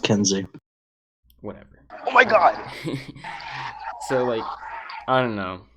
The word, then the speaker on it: Keynesian: a social democracy right it's pronounced Kensi whatever oh my god